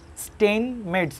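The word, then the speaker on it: Steinmetz: important একটা জিনিস, এক্সটাকে বলা হয়, এর নামটা উচ্চারণ করা খুবই ঝামেলা, স্টেইন মেডস বলে আর কি, হ্যাঁ, এটাকে পরিচিত করা হয় স্টেইন মেডস constant, স্টেইন এমইটিজেড, স্টেইন মেডস constant, constant, তাহলে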